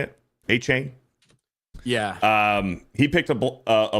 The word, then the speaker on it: Achane: Achane?